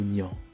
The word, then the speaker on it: Niang: niang mamadou niang ou pour le dire plus exactement mamadou niang comme l'exigent la prononciation en vigueur au sénégal son pays de naissance mais pour le trouver